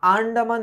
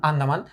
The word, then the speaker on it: আন্দামান: এখন কি বলতেছে দেখো, কলকাতার বাইরে বাকি যে পৃথিবীটা আছে সমস্তটাকেই মামা আন্দামান দ্বীপের অন্তর্গত বলিয়া জানেন। এখানে একটা প্রশ্ন হয় যে আন্দামান দ্বীপটা কি? আন্দামান, ইটস আন্দামান, ঠিক আছে, যাই হোক উচ্চারণটা আন্দামান।